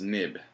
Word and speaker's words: XIB: when I said that XI Beast uh here is pronounced nib so this is what